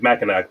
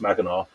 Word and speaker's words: Mackinac: which looks like it's spelled out looks like Mackinac, but it's pronounced Mackinac.